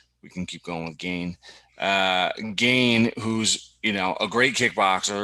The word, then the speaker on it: Gane: right because you've got I believe it's pronounced gone but we can keep going with gain uh gain who's you